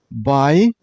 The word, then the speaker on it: biathlon: This sport has 3 syllables. Biathlon. And while you pronounce the word, you should stress on the middle syllable. I mean on at sound.